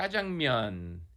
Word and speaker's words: jajangmyeon: Sbrocco: All right, Nick, I'm gonna ask you to help us all pronounce this dish correctly. Cho: Jah-jung-myun. Yeah. "Jajang" is the black-bean sauce. And "myeon" just means "noodles." Myeon.